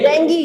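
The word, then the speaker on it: dengue: डेंगू नहीं होगा, क्या होगा? डेंगी।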